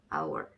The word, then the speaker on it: hour: 그래서 O와 U 합해서 우 소리, 그리고 다시 U와 얼이 합해져서 얼 소리. 그래서 합하면 hour 이렇게 되겠죠.